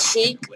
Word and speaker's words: Shiekh: So, 1 pair of shoes came from this store called Chic. It came in the bag like this. Yeah, Chic is spelled SHIEKH.